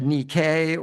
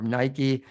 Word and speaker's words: Nike: It said Nikay or Nike as we pronounce it in English, hence the name of the running comp club.